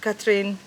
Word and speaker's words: Catherine: okay I've been living my name is Catherine uh Catherine um or depending on which languages you want to you want to say my name in um I've been living